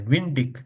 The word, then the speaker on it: windig: हमने एक पीछे देखा था ना, जब भी गे आ जाए एंड में तो वो खा आवाज निकलता है। विंडिक, नेबलिक, विश्तिक, वेनिक, रिश्तिक, जेशिक।